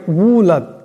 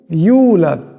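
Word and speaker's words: يولد: পরিমাণ লম্বা করতে হবে আমাদের মধ্যে বহুত লোক এমন আছেন যারা এটাকে ইউলাদ এমন করে আবার কেউ কেউ এটাকে উলাদ এমন করে আসলে এরূপ উচ্চারণ করলে উচ্চারণটা শুদ্ধ হবে না এখানে ওয়াও সাকিন তার ডাইনে ইয়া আছে তাই আওয়াজটা ইয়ার মত করতে হবে ইউ ইউলাদ ইউলাদ এমন করতে হবে উলাদ এমন করলে হবে না কিংবা ইউলাদ এমন করলেও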